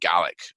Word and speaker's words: Gaelic: it or not Scottish gay um you know pronounced gallic um but Scottish gelic is is actually what's